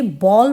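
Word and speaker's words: bowl: जो पास में बॉल अब देखिए इसे बाउल नहीं पढ़ेंगे। बहुत गलत प्रोनाउंस करते हैं बच्चे जिनकी इंग्लिश थोड़ी ठीक नहीं होती है। तो इंग्लिश में इसे बॉल पढ़ते हैं। बाउल नहीं पढ़ते कटोरा।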